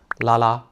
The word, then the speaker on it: 拉拉: Et ensuite, le mot le plus courant est 拉拉. Il est développé à partir de la prononciation de "lesbian" et on l'a rendu plus joli, plus mignon. Donc, lelelelelalalalala, 拉拉.